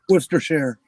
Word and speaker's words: Worcestershire: If it's a part of something, it's always Shire. Lancastershire. Yes, it's like Yorkshire. yeah, Gloucestershire. yeah. The Shire. Worcestershire.